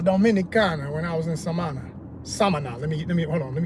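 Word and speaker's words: Samaná: Last Dominicans I met, and I said, yeah, I went to Samana. They said, no, Samana. I said, oh, okay, let me get my pronunciation right.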